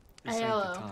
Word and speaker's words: Aiello: Aiello, that's how you say his name.